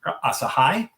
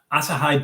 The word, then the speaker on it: Asahi: And today we are doing this is from Asahai. This is asahai super dry because it rhymes.